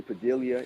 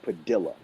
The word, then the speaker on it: Padilla: Actually, Reggie Padilla is I always say Padilla. It is actually pronounced Padilla. So I gotta put some respect on his name.